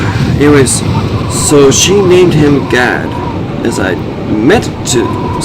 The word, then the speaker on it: Gad: And when I had to say it, the very thing I said is spelled G-A-D. I didn't say God. I was clearly trying to say Gad during this, but a